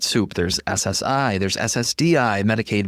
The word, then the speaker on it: Medicaid: In case you confuse Medicaid and Medicare, Medicaid rhymes with paid because it's means-based.